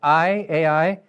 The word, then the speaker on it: Ai: The city of How do you pronounce it? I Ai, uh, was supposedly ruined.